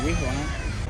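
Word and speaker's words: وهران: 5 centuries after the foundation of the city, they have given this name to the city Wihran. Spanish Empire came here 5 centuries after. They came here to take the city, but the Spanish can't pronounce like us, like they are Wihran. It's difficult for them. So they said directly Oran.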